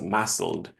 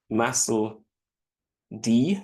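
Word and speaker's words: MASLD: aspects of what is more commonly termed now as massel massel D is an alternate way of pronouncing it as well but mled essentially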